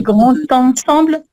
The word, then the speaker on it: grand ensemble: Ah ouais, alors, tu vois, tu as envie de faire une liaison et tu as raison, parce qu'on a l'adjectif qui est devant le nom, mais pas le grand ensemble, tu vois.